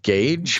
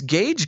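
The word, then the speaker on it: Gaige: to pronounce his name it's spelled g-a-i-g-e so gage maybe you should probably uh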